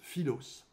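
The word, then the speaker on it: φίλος: Cet amour est associé au mot grec qui se prononce philos.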